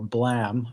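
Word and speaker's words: BLAME!: He's most famous for, well, I think he's most famous for Blam, which is spelled BLAME exclamation mark.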